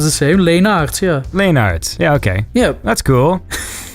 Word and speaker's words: Leenaerts: Leenaerts. Okay, because it looks to me like I would have said like Leonards. That's how I would have said it. Oh, it kind of sounds the same. Leenaerts, yeah.